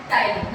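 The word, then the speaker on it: ptyalin: हैं जिसका नाम है टाइलिन। यहाँ पर पी साइलेंट रहता है एंड देन टाइलिन इसका नाम हो जाता है, ठीक है।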